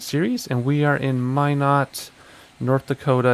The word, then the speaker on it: Minot: and we are in Minot, North Dakota. It's not Minot, it's Minot, that's how the locals say it.